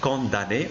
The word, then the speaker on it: condamné: jour d'un condamné donc là on prononce condamné on ne prononce pas m un condamné très bien donc pour